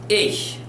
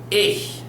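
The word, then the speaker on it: ich: Dutch to IC H we pronounce that as ish ish a u singular is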